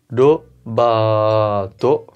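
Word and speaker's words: ロバート: Alors Robert, comme c'est un nom étranger, on va utiliser le katakana, ce qui va donner robato, robato, robato.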